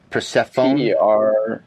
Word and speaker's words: Persefone: It's spelled weird. Persefone. Persephone. Persefone.